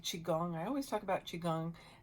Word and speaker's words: Qigong: Qigong, I always talk about Qigong, and that is spelled Qi, one word, second word like gong, Gong, Qigong.